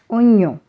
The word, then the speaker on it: oignon: Here, GN is pronounced N. Oignon.